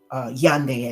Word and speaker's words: Yaoundé: We were in Yaoundé, Yande, as some people pronounce it, and they took us to the bush for Christmas, as they call it.